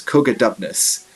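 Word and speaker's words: Cogidubnus: So the way we pronounce his name is Cogadubnus.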